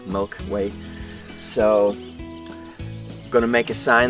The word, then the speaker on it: Milky Whey: name ever for this we call it the Milky Way and spelled with WH dy4 way like in a way Milky Way so gonna make a